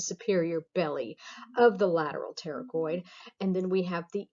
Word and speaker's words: pterygoid: All right, so here we have the medial pterygoid, the P is silent, pterygoid muscles.